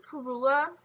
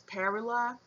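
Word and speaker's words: Parula: The northern perula. Um I've also heard the name as perila. I think that might be the British pronunciation.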